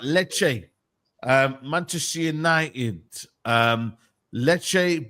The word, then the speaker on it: Lecce: know what I mean I want to pronounce that right because I keep saying leas um but leche um Manchester United um